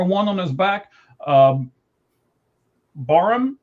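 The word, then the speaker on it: Barham: Um, Barum, B A R H, I believe is how you say it.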